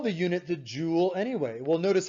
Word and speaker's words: joule: It's not a joule from a jewelry shop. Okay, it's not a jewel that's made out of a gemstone. It's Joule, named after the great scientist James Prescott Joule, JPJ.